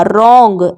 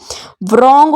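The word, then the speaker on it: wrong: है रैप मतलब अपना रोंग आर ओ एन जी ये सिर्फ इसके ध्वनि ए रही है डब्लू की ध्वनि नहीं ए रही है vrong हो जाता वर्ण तो इसीलिए इसको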